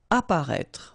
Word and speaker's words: apparaître: Apparaître. Okay, so exactly the same situation here with this circonflex. You don't pronounce it.